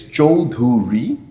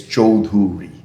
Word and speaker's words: Choudhury: It's Choudhury, 3 syllable.